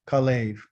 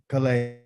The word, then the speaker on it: Kalev: His name is spelled like this: a Kaf, a Lamed, and a Bet. Okay. And it's called Kalev. Okay. Kalev.